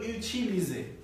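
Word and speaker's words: utiliser: হবে কেন যে হবে কারণ এই এস এর আগে একটি ভয়েল রয়েছে এবং পরে একটি ভয়েল রয়েছে তাই না তাহলে এটা জ উচ্চারিত হবে এবং আমরা জানি যে এই এক থাকলে উচ্চারণ হয় হইলো এ তাহলে এটা হয়ে গেল এখানে একটা তাহলে এটা গেল ইউসিলিজে ইউসিলিজে ইউলিজে মানে কি ব্যবহার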